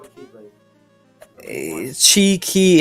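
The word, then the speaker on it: χ: Well, it's pronounced Chi, but like whenever it's shown in the game and they say Key, and it's like a squiggly X.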